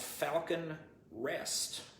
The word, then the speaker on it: Falcon Rest: show from the 80s it was called falcon rest not falcon crest but falcon rest uh it was just